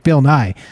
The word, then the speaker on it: Bill Nye: Bill Nye. It rhymes with science guy.